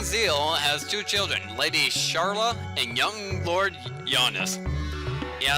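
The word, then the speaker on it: Schala: young Lord Giannis yeah I know it's spelled Shala and the Japanese word for it is also Sala or Sara because they don't differentiate between RS and L's I like to say charlot because it sounds more like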